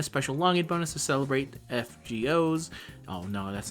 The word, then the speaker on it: FGO: Let me just go back to saying fake order. Fake order 2025 8th anniversary. The correct way of saying it is FGO. I acknowledge that. I just like saying it wrong.